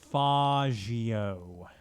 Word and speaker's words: Faggio: Oh yes, whenever you're riding around on the beep, it's not Faggio. The official guide for San Andreas says that it's pronounced Faggio. Faggio.